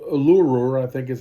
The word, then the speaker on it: Uluru: It was called Uluru, I think is how it's pronounced.